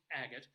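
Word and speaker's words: Agate: pronounced differently I had to check how it's pronounced but it's agot uh population is about 450 people they do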